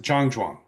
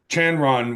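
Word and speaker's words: 站桩: In Mandarin it is pronounced Jang Juang.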